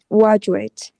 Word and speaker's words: graduate: Uh, graduate.